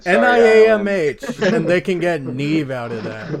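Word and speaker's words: Niamh: yeah like uh here's a great example like neve nevis spelt n-i-a-m-h but nobody struggles seeing need for the first time and saying neve yes worst name on the planet n-i-a-m-h and they can get neve out of that like like i never mispronounced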